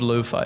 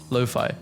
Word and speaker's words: lo-fi: I still can't believe lo-fi is pronounced lo-fi and not lofi.